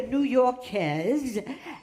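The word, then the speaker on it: New-Yorkaise: Yeah, so I'm the New Yorkaise, and that rhymes with bez, which means to fuck.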